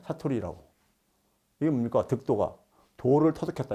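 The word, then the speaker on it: さとり: 이게 그러니까 일본식 발음으로 사토리 세대. 예? 사토리라고.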